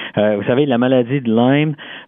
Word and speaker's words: Lyme: Vous savez, la maladie de Lyme, on prononce Lyme, certains disent Lyme, là, mais on dit Lyme parce que c'est le nom en fait de l'endroit d'où ça vient et à l'origine.